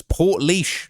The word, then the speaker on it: Portlaoise: Daniel Kinahan's first full day inside the walls of uh Portlaoise Let me see if I can pronounce that correctly. It's Portlaoise Portlaoise Prison, okay, on Monday.